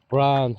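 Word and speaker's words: braitheann: Branche, Brahan, but we say Bran, B-R-A-I-T-H-E-A-N-N, Bran, Shay, it depends.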